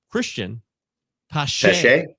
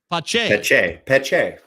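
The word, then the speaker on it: Cristian Pache: And I got it wrong, by the way. It's Christian Pache. Pache. Okay. I want to give a shout out to Baseball Pods, who gave us a pronunciation guide last year. Pache. I can't believe I blew it.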